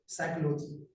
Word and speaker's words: psychology: सबसे पहले इसको इंग्लिश में लिखने के लिए सीखना है, क्योंकि इसमें पी साइलेंट होता है, पी से शुरू होता है लेकिन पी का उच्चारण नहीं होता है। PSYCHOLOGY होता है साइकोलॉजी, और हिंदी में कहते हैं इसको मनोविज्ञान।